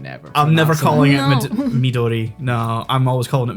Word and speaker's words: Midori: to be the one to point it out maduri is not the right pronunciation damn it because it's it's a Japanese yeah um drink so it's Midori which is green because it's I think watermelon